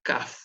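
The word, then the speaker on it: כף: ace pero al revés la caf si tiene el dax en el medio va a sonar cas si no tiene a gays como en este caso suena como hash suena como una jota y tiene la particularidad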